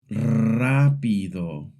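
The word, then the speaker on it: rápido: A good way to practice is to start with the sound of a small motor or a cat purring. Keep the tongue relaxed. Let the airflow do the work. Then try it with words.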